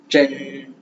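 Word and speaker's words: 真: ட்ரென், ட்ரென், ட்ரென், ட்ரென், ட்ரென், ட்ரென், ட்ரென், ட்ரென், ட்ரென், ட்ரென்.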